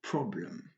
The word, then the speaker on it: problem: Il faut tout faire pour l'éviter, pour avoir une bonne prononciation. Comme dans ce mot problem.